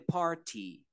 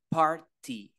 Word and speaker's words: party: Party Going To The Party esa palabra Party tiene dos pronunciaciones en inglés británico Party ti sonaría Tal cual así está party en inglés americano Party o party de las dos formas está bien van para la fiesta